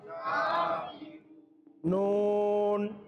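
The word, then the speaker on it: كَافِرُونَ: হলে এক আলিফ পরিমাণ টেনে পড়তে হবে কাফিরু কাফিরু নুন জবর না জবর না কাফিরুনা লাম আলিফ জবর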